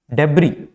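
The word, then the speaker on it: debris: हैं दूसरा होता है एक और होता है डेब डेबी इसको हम डेबी प्रोनाउंस करते हैं यहां पर जोय एस है इसको हम साइलेंट रखते हैं इसको हम प्रोनाउंस नहीं करते हैं बबरी क्या होता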